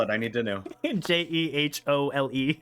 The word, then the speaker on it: Jehole: J E H O L E. Like whole.